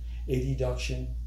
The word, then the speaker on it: adduction: Adduction can also be pronounced adduction. It is spelled A-D-D-U-C-T-I-O-N.